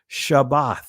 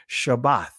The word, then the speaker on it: Shabbat: notice what it says Shabbat why because that's the proper pronunciation of the word from a Hebrew perspective Shabbat right the Sabbath Sabbath